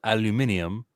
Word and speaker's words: aluminium: How do they say aluminum? They call it aluminium.